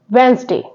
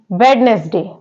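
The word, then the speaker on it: Wednesday: this video silent letters word है वेनसडे लेकिन इसको मोस्टली पीपल क्या पढ़ते हैं वेडनेसडे लेकिन वेडनेसडे नहीं होता है होता है वेनसडे यहां पर डी साइलेंट लेटर होता है यहां डी साइलेंट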